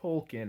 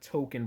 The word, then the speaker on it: Tolkien: So I don't know if this person is real or not, but his name is actually pronounced Tolkien, not Token Black Guy.